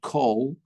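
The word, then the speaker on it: כל: So if ever you're reading the word kol, it's a kamatz katan, komatz koton, which means it's pronounced as an o rather than an a, even in Sfardit.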